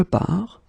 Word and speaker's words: pars: So phonetically, je pars, tu pars, il part, elle part.